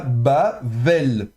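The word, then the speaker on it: בָּבֶל: Il y a pas de dagège dans le bê donc elle est fricative. Donc on va prononcer le bê comme un V en fait un V. Donc on ça pardon, on va prononcer ça bavel.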